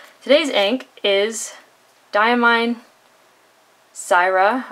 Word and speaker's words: Syrah: is dye mine Zaira I've heard it called or Sarah or Syrah I have grown up in the California wine valley I've heard the wine pronounced Syrah so that is how I'm going to pronounce it just because that's sort